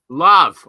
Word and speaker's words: Lav: Spell it. L-A-V. Love. Oh, okay. Love. Like love. Yeah, like love.